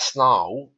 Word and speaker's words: snarl: A snarl, remember the R, is often silent in received pronunciation.